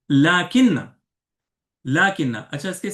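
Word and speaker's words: لٰكِنَّ: अच्छा, इसी तरह अगला है लाकिन्ना। लाकिन्ना, अच्छा इसके स्पेलिंग को आपको गौर करना है।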